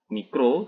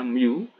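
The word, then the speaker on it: μ: koefisien gesekan dengan ini Miu Hah timbulnya micro tetapi dibacanya Miu dengan nilaimu ini lebih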